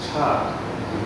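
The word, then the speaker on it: ชาติ: So, Jati, pronounced as Cha in Thai. There's apocope there. In other words, the last vowel is dropped off. So the E sounds missing, the Cha.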